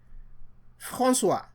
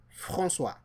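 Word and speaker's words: François: Frana. F A N C O E S Frana.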